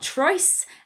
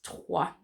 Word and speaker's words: trois: We learn, don't we, that it is trois. So the O-I in French makes a wa sound. Okay. So some sounds for you to practice then. Some that you may have seen already. I've mentioned trois.